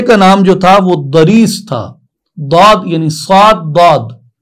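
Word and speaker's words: ضریس: داد را یا سین، داد کو عام طور پہ زاد بھی پڑھتے ہیں، زریس یا دریس جو بھی آپ اپنے تلفظ میں کہیں، دریس، اس گھوڑے کو اس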